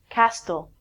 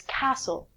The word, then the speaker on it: castle: lot of people say Castille it's not Castille it's castle a castle is a